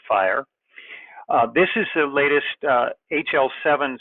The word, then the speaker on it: FHIR: healthcare interoperability resources but people pronounce it as fire this is the latest